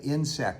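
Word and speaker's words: Ynsect: a company in France called Insect, and that's spelt with a Y, Y-N-S-E-C-T.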